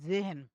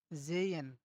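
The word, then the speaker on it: sehen: জেহেন। আমরা কিন্তু জেহেন বলি। কিন্তু এটা হবে কি? জেইয়েন, জেইয়েন।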